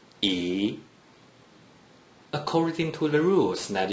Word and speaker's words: 一: According to the rule that you just learned, a single digit 1 without any other digits in the second green circle is pronounced E, according to the rules that you learned in the last two lessons.